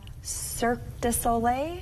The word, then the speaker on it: Cirque du Soleil: it's like, I'm going to say it wrong, Cirque du Soleil?